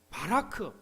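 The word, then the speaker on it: בָּרַךְ: 자, 또 복을 주시고 여기서 복에 해당하는 히브리어 단어는 바라크 이렇게 발음을 합니다.이 말은 단순히 돈이나 건강 같은 부분적인 복이 아니라 삶 전체에서 넘쳐나는 하나님의 복을 의미하죠.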